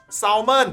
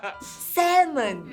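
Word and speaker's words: salmon: 'Sahl-muhn' No, it's not! 'Sam-uhn'. I went to different restaurants, and I think I've heard them saying 'sam-uhn', not 'sahl-muhn'. I remember that the 'L' is silent.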